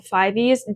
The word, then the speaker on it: F5VE: If you're wondering why I'm saying 5VE instead of 5, they explained on their social media that is how their name is intended to be pronounced, but I might slip